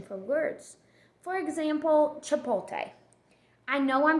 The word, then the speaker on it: Chipotle: For example, Chipotle. I know I'm pronouncing the restaurant's name wrong, but it's spelt